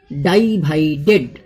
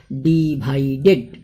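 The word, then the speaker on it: divided: ডিভাইডেড, DI ডাই, VI ভাই, DED dead, ডাইভাইডেড, কিন্তু প্রোনাউন্সিয়েশনটা হবে ডিভাইডেড।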